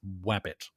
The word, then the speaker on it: Wabbit: the Atari 2600 game Wabbit. And yes, that is pronounced with a W, guys. Wabbit.